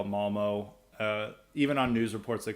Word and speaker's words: Malmö: Now, Malmo, side note, is in Swedish is pronounced because it has an umlaut. It's Malmö, but I prefer, it's America. We're going to call it Malmo.